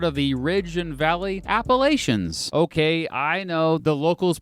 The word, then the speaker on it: Appalachia: In the northwestern part of the state, it has freaking mountains, part of the Ridge and Valley Appalachians. Okay, I know the locals pronounce it Appalachia.